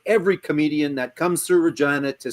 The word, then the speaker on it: Regina: comedian that comes through Regina to say, A, it rhymes with fun, it sounds like vagina.